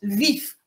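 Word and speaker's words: Львів: tenue en 1943 àvof alors en fait dit le VOF lorsqu'on considère que que c'est une ville qui faisait partie de l'Ukraine soviétique et les les nationalistes ukrainiens eux il prononce vif vous voyez un i au lieu d'un o et donc en 1943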